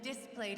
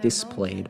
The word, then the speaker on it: displayed: Displayed? Why did you say it like that? I have never in my life heard someone put the stress on that word like that before. Displayed. Instead of displayed.